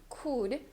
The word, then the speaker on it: could: for the word could we're not going to say could could right so for this V it's a very reduced spell could it's almost like the O as in V from Portuguese